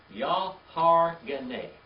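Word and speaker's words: יהרגני: Y-A-H-A-R-G-E-N-I, like genie at the end of it.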